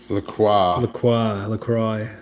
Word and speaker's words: LaCroix: LaCroix.